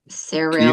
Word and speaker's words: Cyril: Cyril. Kirill?